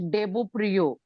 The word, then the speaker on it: Debopriy: since that Shayandeep, I always, so it's like I have a very close friend, his name is, spelling is DEBOPRIY, but it's always Debo Priyo.